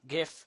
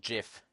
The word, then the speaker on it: GIF: never know like with gift and jiff although it's gif never never let you let yourself be fooled it's not jiff it doesn't start with a J it starts with G so it's gift like in good so